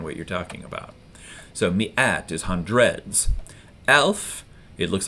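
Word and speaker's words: مئة: It's not spelled phonetically. Most words in Arabic are spelled phonetically, but this one isn't. So it looks like ma'i'a or something like that, but it's not. It's mi'a.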